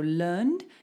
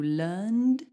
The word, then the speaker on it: learned: they need to rhyme so learned needs to rhyme with concerned this is exactly the same sound we're going to do learned concerned like that now try